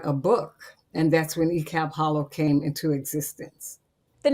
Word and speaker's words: Icalp: So I spun that name around and pronounced it E-Cab.